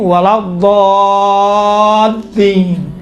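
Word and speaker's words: ولا الضالين: ہے، کاملاً باریک ہے، لیکن یہاں پر لام چونکہ لام کے اوپر تشدید ہے، تشدید کی وجہ سے لام کا تلفظ تھوڑا سا موٹا اور ضخیم اور غلیظ طریقے سے کیا گیا ہے.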